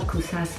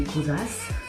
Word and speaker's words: Kosas: Pas Kosas, mais Kosas.